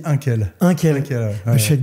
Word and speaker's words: Inque: Alors on dit Inkel.